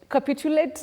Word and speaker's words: capitulate: Capitulate which is ritualist. Oh, the stress is on the second syllable for that word.